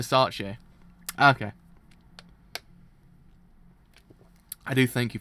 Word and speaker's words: Versace: I was like, was I mispronouncing it the whole entire time? Oh, I actually was. So it's Versace.